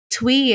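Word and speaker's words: Thuy: Twee. It's spelled Thui.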